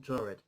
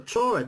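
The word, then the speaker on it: Taured: The mysterious tale of the man from Chored. The Chored, this is how it's spelled as well. T-A-U-R-E-D. Chored.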